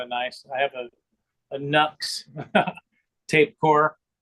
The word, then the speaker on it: Nux: I have a Nux tape core. Some people call it Nuke. I think they pronounce it.